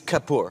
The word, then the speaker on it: Kapoor: Last name was Is Kapoor. Yeah, Kapoor. Yeah. And so It's 2 syllables.